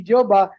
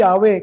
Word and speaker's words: Yahweh: Kaya hindi po nila ito mababago sapagkat kahit na-acknowledge nila ang tamang bikas ay hindi Jehova kundi Yahwe.